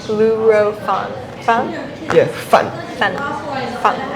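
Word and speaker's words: 滷肉飯: Mandarin oh I told you one more time luro fun luro fun fun yeah fun fun fun yes rice Lou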